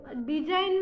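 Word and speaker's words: design: ही जी के बताऊंगी अब तो डिजाइन में जी साइलेंट होता है दी ए एस आई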